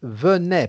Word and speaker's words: venaient: à ceux qui viennent comment prononcer à ceux qui venaient parce que celle de la paix troisième personne plurielle a donc qui elle s ou e2s venaient parce que le nt silencieux silencieux donc s'est prononcé de la même façon comme si c'était un as ou a été tu vois la future